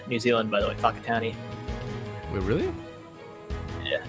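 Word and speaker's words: Whakatāne: place in uh New Zealand by the way whakatani oh really yeah it's pronounced wakatane or it's spelled w-h-a-t-a something I remember but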